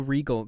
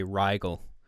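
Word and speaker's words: Riegel: on the first try yeah I figured regal that's the right way isn't it RIE so most people must say Rygel because of the it starts with the I first but I can see how that would be pronounced regal Thank You much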